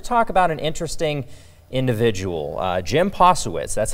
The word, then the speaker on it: Posewitz: Of course, we've got Norma Ashby-Smith and Harry Mitchell today, and we're here to talk about an interesting individual, Jim Posewitz.